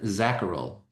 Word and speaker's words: Zacherl: Can you please say your surname because I'm not 100% sure how to pronounce it. Yeah. Uh Dr. Zacharel.